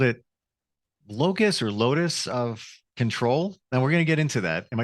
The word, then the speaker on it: locus: think you called it Locus or Lotus of control now we're going to get into that am I saying it right Locus c-us l-o-c-u-s that's what I thought you said it sounds like Locust like the little inside